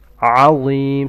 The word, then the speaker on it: العظيم: Alim starts with an ayn from the throat. Alim. And law is pronounced with a full mouth.